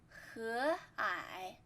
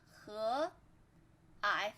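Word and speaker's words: 和蔼: 和蔼 second tone. 和蔼 third tone.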